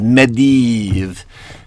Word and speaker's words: Medivh: The proper pronunciation is Medivh.